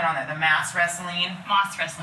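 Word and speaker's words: mas-wrestling: The mass wrestling, Moss wrestling. moss, like moss on a tree, but it's not spelled like that. It's spelled like mass.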